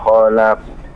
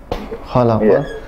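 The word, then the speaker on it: خلق: Iqra bismi rabbikal ladzi khalaq. Khalaq, ada pantulan, ada qalqalah.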